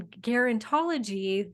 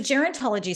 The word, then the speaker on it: gerontology: did you learn in guarantology that show like that says how should we be exercising as we're aging so gerontology says did I say it wrong again yeah it's okay think of it Jerry so geriatrics positions like